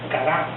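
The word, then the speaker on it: קָרָא: es una palabra hebrea que se pronuncia cará cará y esta nos da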